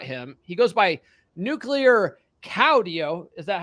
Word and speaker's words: Caudillo: He goes by Nuclear Caudillo. Is that how you pronounce it? Perfect. Okay. More emphasis on the "iyo" on the last part. Cowdeo.